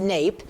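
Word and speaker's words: NAEP: Let's start with the NAP pronounced NAPE, those results, the National Assessment of Educational Progress, which is part of the US Department of Education.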